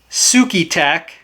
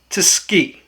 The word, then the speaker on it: Tsukitac: before, and I think most Americans would pronounce it Tsuki Tac. However, after looking it up on Google, Google says it's pronounced Tsuki. And that's as best I can do.